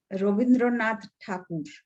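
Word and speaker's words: Rabindranath Thakur: going to speak about ravindranath thakur he is known as ravindranath tagore but i choose to address him the way his name is pronounced in his mother tongue bengali which is today is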